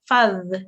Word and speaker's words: ذ: This is a dhal sound. It's really softly pronounced, and you touch your tongue to the top of to the bottom of your teeth at the top. So it sounds like this. Fadh. Rather than saying fuzz, which would be a za sound, it's fadh.